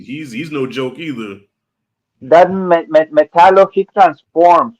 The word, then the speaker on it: Metallo: That's how you say it, Metallo, right?